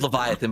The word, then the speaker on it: Leviathan: Leviabetus? His name is Leviathan, but he's saying it terrible.